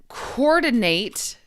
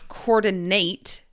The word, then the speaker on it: coordinate: and then coordinate as a verb. Coordinate long a noun coordinate it more like a short i sound.